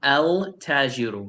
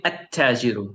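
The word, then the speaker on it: التاجر: I am not saying el tajiru. No, that's wrong. So you do not say el tajiru. No. You say attajiru.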